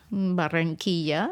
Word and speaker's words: Barranquilla: Do I pronounce them right? Cartagena? Yes. Barranquilla? Barranquilla, yes.